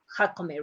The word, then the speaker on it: Jacome: we have to tell Jacome, right? We don't translate it. So the pronunciation, even though that you said it in English, is going to say Jacome.